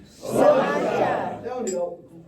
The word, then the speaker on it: sláinte: The pronunciation is just more. How I like to say it is sláinte. So, on the count of three, we're going to raise a glass. Full or empty, say sláinte as loud as you can to do a